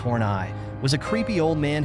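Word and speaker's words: Horneigh: of his characters Tyrone F horn pronounced torn eye was a creepy old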